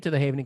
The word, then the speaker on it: Havening: Havening, as safe haven. At safe haven.